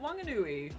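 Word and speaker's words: Whanganui: you talk to locals actually they just all pronounce it wangoi I know it's very verying so here we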